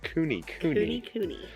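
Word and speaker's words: Kune: that we want, and there's two different ways to say this, but I'm telling y'all the pronunciation that I saw online was cooney. But it's spelled coon with a K.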